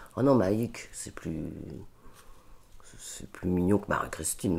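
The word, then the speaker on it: Maïc: Et puis il y en a un qui m'a appelé Maïk, mais à la base ça s'écrit M-A-I-C.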